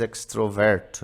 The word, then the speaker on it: extrovert: a falar em português, extroverto, né? Mas está errado. Acontece isso, as pronúncias são diferentes, né? Obviamente, portanto, em inglês a gente vai pronunciar extrovert, com mais força no início.